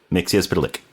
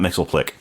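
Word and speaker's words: Mxyzptlk: Mix lick. And the way that it's spelled, it's not mixelick. So, stop calling it Mixelick, people.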